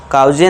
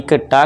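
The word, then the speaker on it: caught: जी एचएस में यहां पे साइलेंट है और बस इसके बाद टी के ट का साउंड बस इसके बाद बड़ी ई की मात्रा ठीक है दोस्तों कॉट नॉट कॉज कॉजे नहीं लास्ट बट नॉट द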